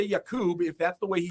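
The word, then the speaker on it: Jakub: oh, just go with Jacob. I don't need to do Jakob anymore. And he goes, well, technically back home it's pronounced Yakub.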